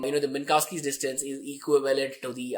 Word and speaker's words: Minkowski: you can spell it i usually prefer saying minkowskis where the k is almost silent minkowski nasty you can